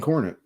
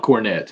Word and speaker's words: Cornet: man myth legend cornet did i say it right yes it's not cornet it's corny all right good i said